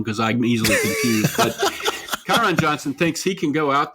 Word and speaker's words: Kyron Johnson: Kerryon Johnson thinks he's or how do you pronounce his name? Kyron Johnson? Kyron Johnson.